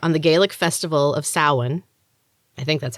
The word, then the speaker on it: Samhain: though each year on the gaelic festival of samhain i think that's how you say it saucers